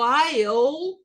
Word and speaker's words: while: Enquanto o while não pronuncia o E, o aqui vira o I, e pronuncia o L, while, essa palavra não esqueçam, pode colocar aí, porque vai cair muito em prova.